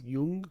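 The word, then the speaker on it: Jung: experted on these but more yian yeah from Young Yung yes young he was Swiss who knows how to pronounce his name well I suppose the Swiss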